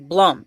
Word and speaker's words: Blum: It says uh a letter from Jason Bloom or Jason Blum. It's Bloom actually. Blum. He said it one time. This pronounced blum.